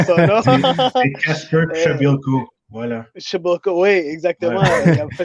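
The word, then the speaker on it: Przybyłko: On a de la misère à prononcer son nom. C'est Kasper Shabilko.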